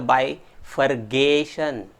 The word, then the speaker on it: bifurcation: The next one, that is bifurcation. Number of times people used to pronounce it as a bifurcation. It is not gation, friends, it is a cation.